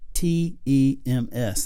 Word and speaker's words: Thames: about this River where it says pronounced tems that sounds like Tim's to me maybe that was his